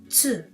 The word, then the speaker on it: つ: This is not tu, since there's no tu sound in Japanese. Instead, we have tsu. So the pronunciation of this letter is not tu, it is tsu.